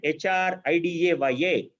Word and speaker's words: HRidaya: saying that the word if you look at hr ida by a it actually rhymes with hr idea so i look at